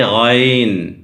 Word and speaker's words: غین: ذا۔ عین، عین، عین، وہی عین کے سر کے اوپر دیکھیں نقطہ ہے یہاں پہ، اس کو پڑھیں گے غائن، غائن، غائن۔ لفظ ہے، نقطہ آنے کے بعد تلفظ بدل جاتا ہے، اس پہ غور کیجئے۔